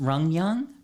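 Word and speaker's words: Ryugyong: on par with the correct, Yeah, like it's pronounced Rungyung, and it means the capital of willows. And the Rungyung Hotel sits in the capital city of North Korea in Pyongyang.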